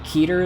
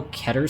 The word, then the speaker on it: Keter: Keater is the official pronunciation. All right. I'm I go back and forth. I kind of like I kind of like how Keter sounds depending on like who is saying it.